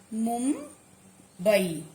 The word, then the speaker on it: मुंबई: जैसे मुंबई, अब इसमें देखेंगे ब किस, ब वर्ण किस वर्ण वर्ग में आ रहा है, प वर्ग में आ रहा है ब, ठीक। मुंबई, और इसकी पांचवा व्यंजन क्या है, म, तो क्या बनेगा मुंबई। माँ आप लिखेंगे आधा माँ और उच्चारण में भी म की ध्वनि आएगी।